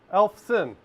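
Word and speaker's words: Eyolfson: hope only three letters the next one is sin elf sin perfectly valid pronunciation my last name go with that makes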